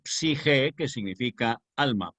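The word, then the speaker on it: psique: Psige con PS, que es una consonante griega, por eso conviene siempre no omitir la P cuando empleamos palabras, claro que a veces da pereza pronunciarlas, pero cuando escribamos, que no omitamos la P antes de la S, porque es psi, la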